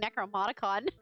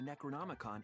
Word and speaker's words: Necronomicon: Oh, I am saying it wrong. I was saying Necronicon. I was putting consonants where in the wrong place and and imagining some consonants. You have to burn the Necronomicon in the ritual.